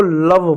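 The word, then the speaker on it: love: एल ओ वी ई इसको लव पढ़ते हैं।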